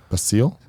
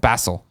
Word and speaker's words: Basil: basil C and says no it's not pronounced like the herb basil bassil Bassel like basil like in